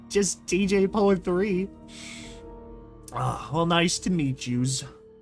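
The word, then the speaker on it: DJ Pon-3: Or is it supposed to just be pronounced DJ Pony? You know, like, which is it? I'm pretty sure it's just DJ Pone 3.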